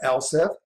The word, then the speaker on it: elif: We're going to pronounce that else if.